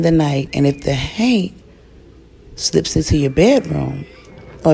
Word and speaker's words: haint: I'm referring to none other than the Haint, or Hank, depending on how you say it.